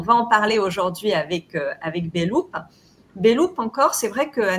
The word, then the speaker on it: Beloop: Alors, on prononce Beloop parce que c'est un peu être dans la boucle, mais au problème.